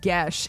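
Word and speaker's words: geas: My D&D group had a long talk about that spell, culminating to all of us being mad that it's pronounced Gesh.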